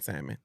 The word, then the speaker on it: salmon: I just can't hate I can't stand the people who pronounce the L in salmon.